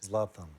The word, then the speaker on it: Zlatan: You want to see Zlatan, and Zlatan is the correct pronunciation, yes? Zlatan.